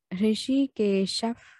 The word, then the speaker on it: हृषीकेशः: यहाँ पे ऋषिकेशः आएगा और मिदम, ठीक है।